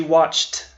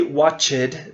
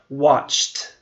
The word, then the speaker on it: watched: We don't say watched. That is incorrect pronunciation. The correct pronunciation is watched. It almost sounds like a T.